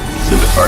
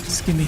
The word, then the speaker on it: scimitar: Scimitar is just not Skimmy. I just remember people calling them skimmies in RuneScape days, so I always thought to pronounce the C.